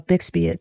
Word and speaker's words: bixbite: red beryl now, um, but it is, uh, bixbite. That's how you pronounce it.